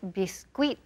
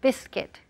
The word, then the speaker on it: biscuit: see senator corsetry palabra Nathan biscuit biscuit and pronunciation princessy on know me the guys be squid the squid no no he says typical Spanish no so we want biscuit there so as biscuit or par Americanos cookie